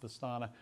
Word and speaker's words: Vastana: And the farm name was Vastana, spelled with a W, but pronounced Vastana.